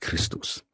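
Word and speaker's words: Χριστός: XP in Greek XP is XP and is pronounced Christos so there is no evidence of a word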